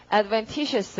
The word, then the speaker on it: adventitious: 자, 발음 어떻게? adventitious 항상 t에 올리시고요.